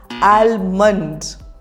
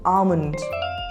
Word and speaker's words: almond: you pronounce this one alund the correct pronunciation is alond repeat after me alond L is silent so the pronunciation is